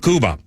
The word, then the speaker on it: Kuba: Well one guy's last name rhymes with tuba. Phipe Kuba.